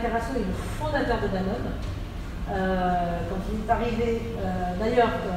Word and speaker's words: Danone: a dit « mais si tu appelles ça Danone, les gens vont prononcer Danone, ça va faire sud-américain, ça va être pas de bonne qualité. » Donc c'est écrit Danone, D-A-2-N-O-N, il faut dire Danone.